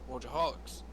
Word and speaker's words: Wojciechowicz: He goes, "Wojciechowicz." You say it like it is.